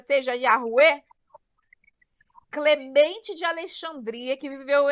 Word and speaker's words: Yahweh: Ao analisar inúmeros manuscritos contendo o nome Yud, He, Vav, He, concluiu o rabino James Trim que a pronúncia correta é Yahué, em concordância com os maiores especialistas sobre o tema.